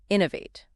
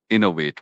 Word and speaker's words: innovate: Innovate. Innovate. It's pronounced in o or wait. You hear that stress on the first syllable. Innovate.